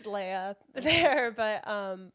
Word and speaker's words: Lea: already know you as that people call me Leah and Leia it's technically a layup that makes